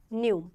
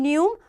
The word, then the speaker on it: pneu: session and that is new now see p is written but not pronounced p is written but not pronounced it is pronounced from n new and it defines something